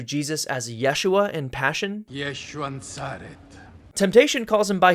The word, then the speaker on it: Yeshua: Yeshua Nazaret.